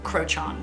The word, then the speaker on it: Crochan: a little bit but i believe it's pronounced um crochan the other witches who